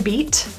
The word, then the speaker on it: beat: The T in beat is surrounded by vowels, so that's pronounced as a flap T.